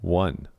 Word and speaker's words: one: guys just said that one is not pronounced with an o sound it's a u sound one the same as cup